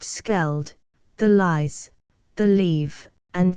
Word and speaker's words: Scheldt: above the water of the Scheldt, pronounced Skeld, the Lys, the Leve,